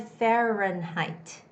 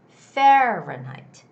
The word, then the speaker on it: Fahrenheit: syllable okay so and there are three syllables fe ren height if i cut out the syllables it's fair ren height and then when i read it put it all together it's fahrenheit fahrenheit the stress goes on the first syllable it's fahrenheit fahrenheit fahrenheit you don't necessarily have to say height it's fahrenheit sounds more like night like day and